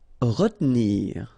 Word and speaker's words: retenir: Okay, so normally in that situation, well, you've got to pronounce this re, okay, but then you don't insist too much on this here, so it goes like retenir, retenir.